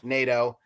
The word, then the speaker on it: Nadeau: I'm Nana III yes it's pronounced NATO um but yeah um